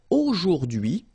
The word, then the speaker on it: aujourd'hui: H is not pronounced, so you only get this d'hui thing.